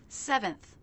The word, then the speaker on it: seventh: Seventh, just like second, stress is on the first syllable. So the second will be shorter, flatter, and lower in pitch.